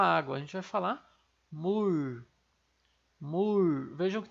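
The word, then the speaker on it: 물: Vejam que tem esse som de LR meio enrolado no final, né, em função do lialo, nosso LR que está enroladinho aqui embaixo na posição ali de patim. Então, a gente vai pronunciar assim, mur.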